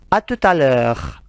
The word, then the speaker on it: à tout à l'heure: Akan tetapi ketika digabung, T-nya masuk ke A. Ya. Karena konsonan dan vokal kalau bertemu, ketika digabung maka akan menyatu. Menjadi satu kalimat. Atau satu frasa. Allez, répétez encore. À tout à l'heure. E-U dibaca E. Ya, agak monyong.